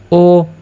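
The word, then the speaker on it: ho: এইচ এর তো কোন উচ্চারণ হচ্ছে না। যার কারণে ও আমরা বলব ও লাভবুরাত।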